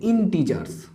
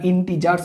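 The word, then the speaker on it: integers: পূর্ণ সংখ্যা ইংরেজিতে বলে ইন্টিজারস এন টি জি আর এস ইন্টিজারস ইন্টিজার বলে না কেউ নামটা ইন্তেজারও উচ্চারণ হতে পারে বাট আমরা ইন্টিজারস উচ্চারণ করবো এটা ইন্টিজারকে স্ক্রিপ্ট জেড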